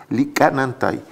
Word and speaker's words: Lickanantay: indios clínica nan tykerb en realidad se pronuncia lickanantay y ellos lo que